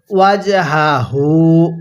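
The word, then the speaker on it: وجهه: এরপরে ওয়াজহাহু, ওয়াজহাহু, দেখুন দোনোটা হাই উচ্চারণের সময় গলার মধ্যে আওয়াজ করে পড়ছি, তাহলে ওয়াজহাহু।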